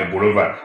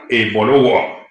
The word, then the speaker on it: Ebolowa: Ce n'est pas Ebolova. Ebolowa, c'est Ebolowa. O apostrophe O. Donc W ou apostrophe O, c'est comme ça que ça s'écrit. Wa, Ebolowa.